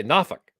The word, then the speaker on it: Norfolk: one so there's this port in virginia called n-o-r-f-o-l-k virginia how do you pronounce that you said folk what faulkner it's